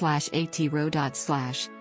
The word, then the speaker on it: Aotearoa: Aotearoa, pronounced /Aotearoa/, often translated as Land of the Long White Cloud, is the current Māori name for New Zealand.